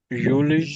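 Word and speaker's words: Juli: को कहेंगे यूनी यूननी यूली यूनी और जुलाई को कहेंगे यूली यूली ठीक है यूली ऑगस्ट या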